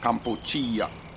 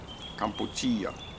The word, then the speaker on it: Kampuchea: We say Cambodia, but they pronounce it Kampuchea. Kampuchea.